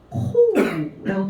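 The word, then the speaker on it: 好: 자, 둘 다 음독이 똑같아요. 쿄라고 읽어주시면 돼요. 이거는 그러면 요 발음이겠죠. 요, 쿄, 이렇게 발음을 하겠죠. 쿄라고 발음을 하는데 옆에 한번 보시겠어요? 여자는 아이를 좋아해. 이 좋아할 호자는 음독이 지금 어떻게 들어가 있냐면 코라고 들어가 있죠. 이거는 오 발음이에요. 코라고 읽어주시면 돼요. 쿄, 코 발음이 다르죠? 두 개 비교해 주시면 돼요.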